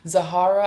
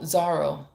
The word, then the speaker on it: Zahara: Zahara, I hope I said that Oh, no, Zara. Not you don't pronounce the H, right?